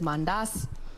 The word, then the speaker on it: mandazi: But now, on to serious, lakini mandazi inaweza. Tunapenda kendas. Tunapenda kendas. Sisi tunapenda kendas. People from the lakeside pronounce it as mandas.